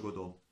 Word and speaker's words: Godot: Io lo pronuncio Godot.